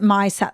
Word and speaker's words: Misette: and vignettes um but we pronounce it my set like my set of table wear so it's really about